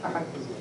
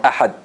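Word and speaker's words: أحد: If I say ahad, like this, ahad, or ahad, they are very close, right? Unless I do the qalqala.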